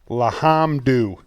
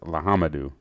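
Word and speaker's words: L'Homme Dieu: So I'm going to call it Lahamdu. Hey, you're really close on that one. It's Lahamadou.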